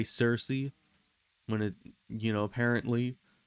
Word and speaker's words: Circe: Like how we say Circe when it, apparently C in Greek in a lot of cases ends up sounding like a K. So it'd be like Kirky instead of Circe.